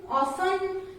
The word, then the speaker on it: often: Words are given where T is silent. In words के pronunciation में T silent रहता है. So the words are like castle, depot, listen, often, fasten, bristle, kitchen, Christmas, rustle.